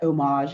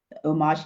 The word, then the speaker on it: Homage: like I like this Oh Maj just sounds more of sophisticates you don't say homage with it don't pronounce the H HS Island like air